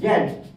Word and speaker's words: Z: আপনি যদি British pronunciation follow করেন, ব্রিটিশ প্রনাউন্সিয়েশন ফলো করলে এর উচ্চারণ হবে জ্যাড, এর উচ্চারণ হবে জ্যাড।